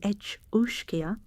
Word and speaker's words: each-uisge: The each-uisge, pronounced roughly each-uisge, is the being most frequently